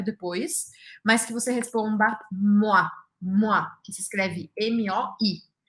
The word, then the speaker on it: moi: ter um verbo depois, mas que você responda moi, moi, que se escreve M-O-I.